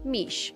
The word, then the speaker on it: Miche: Michelle has a nickname that rhymes with her name, Mish.